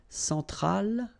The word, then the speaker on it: centrale: Centrale, remember, E-N, nasal, so it goes in your nose. En, centrale.